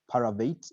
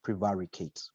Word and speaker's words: prevaricate: then someone mispronounced it it's not pyruvate it's prevaricate there was good use